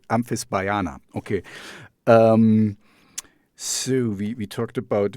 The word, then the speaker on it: Amphisbaena: Amphisbaena. Amphisbaena. Okay, it's not so tough. Because for me there's like a AE, it's like an Amphisbaena, I want to say, but it's Amphisbaena.